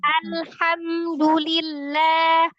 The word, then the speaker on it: alhamdulillah: apa ketarik harusnya fil atau kayak contoh alhamdulillah aja nih alham ya kan al nah itu harusnya alhamdulillah alhamdu nah gitu tapi kita baca Alhammillah tuh.